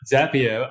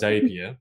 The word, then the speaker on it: Zapier: So Zapier, I pronounce as Zapier.